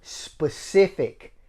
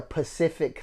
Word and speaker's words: specific: She refused to pronounce crouch. She would say crotch. Ooh, I got a word. When people say specific and they say a Pacific thing, I hate that.